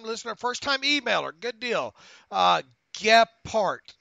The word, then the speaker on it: Gephardt: Gephardt is how he pronounced his last name.